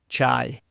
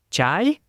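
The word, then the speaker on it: chay: y means vegetarian but if you say it in the wrong way it can also mean fire and when Adrian and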